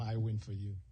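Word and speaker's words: Iwenofu: I normally tell them I win for you.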